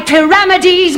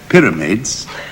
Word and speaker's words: pyramides: make my country's high pyramides my gibbet and hang me up in chains we may be used to saying pyramids but parameters is clear enough and the alternative would be a tongue twister try doing it as